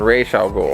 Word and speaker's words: Ra's al Ghul: It's pronounced Ra's al Ghul. There's no H there. Where would that come from?